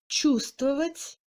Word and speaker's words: чувствовать: Le V ne se prononce pas dans les combinaisons des consonnes V, S, T, V, чувствовать, здравствуйте et LVSTV, безмолвствовать.